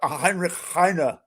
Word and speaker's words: Heinrich Heine: And now I know I have an heir of Heinrich Heine with me, or Heinrich Heine, to say it correctly.